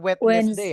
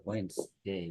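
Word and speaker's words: Wednesday: hari Selasa hari rabuh cara bacanya bukan wetness day ya teman-teman cara bacanya W jadi cara bacanya Nanti kayak gini w w w Oh wedesday wedesday dua suku kata teman-teman wesday w Kemudian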